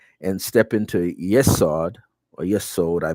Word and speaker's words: Yesod: Okay, and then you step down past the heart and step into Yesod, or Yesod, I pronounce it.